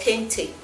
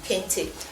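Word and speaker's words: kente: I mean, I've got this sewn here and this fabric here, this here is called Kinti and it's spelled K E N T E. Kinty.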